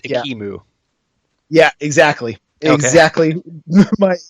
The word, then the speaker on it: Ekimu: I mean, I don't want to call you out on this, but earlier you mentioned Ekamu. It's pronounced Yeah. Ikimu.